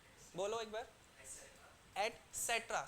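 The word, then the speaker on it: et cetera: they those the eight इसको क्या pronounce करते हैं प्लीज बताएंगे टीसी को एट सेक्ट्रा राइट आप क्या कर बोलिए इट्स नॉट एट सेक्ट्रा एट सेट्र स देयर इज अ स राइट एट सेट्र बोलो एक बार एट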